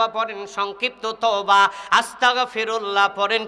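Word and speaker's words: أستغفر الله: বাংলাতে বলি সরেয়া দন্তের স, তয়াকার কতাক, আস্তাক ফিরুল্লাহ। পড়েন কি পড়েন না? আর সঠিক উচ্চারণ হবে কি? হামজা সিন যাবর আস, তা গইন যাবর তাক, আস তাক। অর্থ হবে আমি ক্ষমা চাচ্ছি আল্লাহর কাছে। আস্তাগফিরুল্লাহ, আমি ক্ষমা চাচ্ছি কার কাছে?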